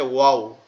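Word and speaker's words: واو: এটা উচ্চারণটা কেমন হবে? ওয়াও। ঠোঁট দুইটা গোল হয়ে যাবে।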